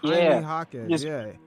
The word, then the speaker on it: Jaime Jaquez: Jaime Jaquez. Jaime Jaquez. Oh, Jaime Jaquez. Yeah, replace the J with an H.